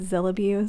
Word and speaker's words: Zillabeau: to pronounce it but my understanding is supposed to be a combination of Godzilla and Beauty so that's why it's zillibu so in any case